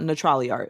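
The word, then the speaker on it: Natrali Art: So the place is called Neutrali Art. It is spelled NATRALIART.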